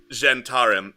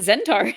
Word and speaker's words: Zhentarim: it starts with an it starts with the z and it's very hard to pronounce don't you mean zendari no h how the do you sound ch sounds we've always just pronounced it zentar well you pronounced it wrong yeah all right